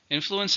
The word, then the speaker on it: influence: Influence is the power to have an effect on people or things. It can be a verb or a noun. How many syllables? Influence. 3 syllables, stresses on the first.